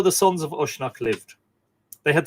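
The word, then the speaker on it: Usnach: And, it is how the sons of Ushnock, I keep saying Ishnock because that's the way I pronounce modern Ishnock. It is how the sons of Ushnock lived.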